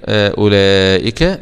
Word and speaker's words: أولئك: وأولئك، خلي بالك الواو ده لا ينطق في المصحف أكنه مش موجود خالص معانا. والمد ده اللي في كلمة أولئك مد واجب متصل، يمد